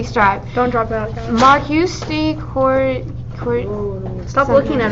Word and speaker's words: Marquis: No, it's Marquis. Marquis. Make them do it. They can't pronounce The I'll Marquis.